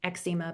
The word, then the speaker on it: eczema: I say eczema, but it's eczema.